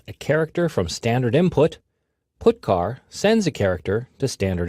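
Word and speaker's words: putchar: character io functions are get car and put car that's how I pronounce them get car fetches a character from standard input put car sends a character to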